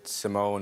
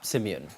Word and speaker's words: Simeon: Well, a lot of people say it wrong. Like they'll say Simone or Simon or like. Yeah. But it's spelt Simeon.